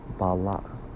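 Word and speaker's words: בָּלָא: Strong's H, 1080 in the Hebrew, pronounced as bala'ah, to harass constantly.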